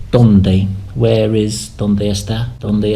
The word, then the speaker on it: donde: And also the E has a bit of an A sound, so donde, where is, donde está, donde están, where are.